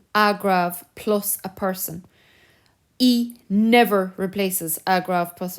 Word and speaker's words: y: that pronoun before um so it's y obviously but it's pronounced e so the pronoun e